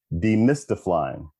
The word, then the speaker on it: Demystiflying: Nope, I didn't mispronounce it. Demystiflying.